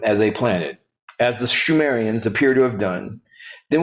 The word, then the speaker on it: Sumerians: The Sumerians, pronounced Shumerians, are a virtually unknown people to most.